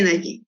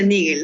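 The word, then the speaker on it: Naegele: Ya, esa es la regla de Nagi, de bueno, en realidad se pronuncia Nigel, ¿no?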